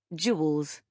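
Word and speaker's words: Jules: He pronounced her name with two syllables. Jewels.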